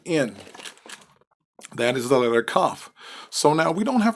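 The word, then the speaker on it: כּ: is okay so again with the dot cuff like a k without the dot okay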